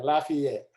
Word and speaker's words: Lafayette: Because it's pronounced about 4 different ways depending on what part of the country you're from. Yeah, Lafayette.